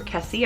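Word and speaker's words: Kesey: Next is One Flew Over the Cuckoo's Nest by Ken Ki or Kessie. I've heard it pronounced both ways.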